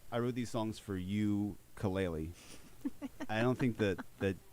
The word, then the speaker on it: ukulele: i get it but it was supposed to be pronounced you kaleli the spork cd is